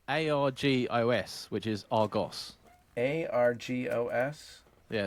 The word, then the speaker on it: Argos: heard Argus and Jenny how do you say it Argos the way it's supposed to be said uh ghost with an R over the nose sorry Argos but Argos